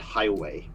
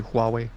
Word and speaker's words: Huawei: go by western mispronunciation i would expect them like who or huawei or something like that not highway not highway okay thank you thank